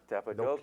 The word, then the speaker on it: Cappadocia: you very nice engaged during the off season cappadocia is that where it took place is that how you say it cappadocia yeah all right it's very scenic very nice